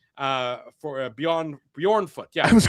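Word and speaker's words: Bjornfot: The Jay is silent, Drew.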